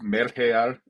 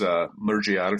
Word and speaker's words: mergear: of funny, like mergear, which you would think it's pronounced mergear, just given the normal pronunciation rules, but it's mergear from what I hear.